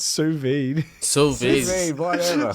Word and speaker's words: sous vide: How's it pronounced? Sous vide.